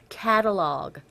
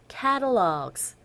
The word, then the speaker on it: catalog: 캐탈로그가 아니라 catalog. 발음이 뒷부분에 복수 형태가 나왔으니까 catalogs 이렇게 발음이 된다는 거 알아주시면 돼요. 카탈로그 아닙니다. catalogs 되셨죠?